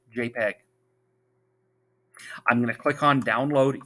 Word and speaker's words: JPG: ahead and open eagle.jpg that jpg is pronounced jpeg i'm gonna click on